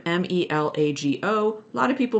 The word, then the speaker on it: Melago: So like my last name, Melago, a lot of people mispronounce it. It's Melago.